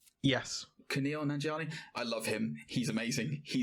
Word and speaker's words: Kumail Nanjiani: Kumail Nanjiani. Yes. Kumail Nanjiani.